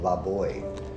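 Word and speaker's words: Laboix: We have this project named Lab Boy. Uhoh. It's name it's spelled L A B O I X and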